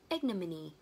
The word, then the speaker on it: ignominy: Đấy, và từ thứ hai là từ ignominy.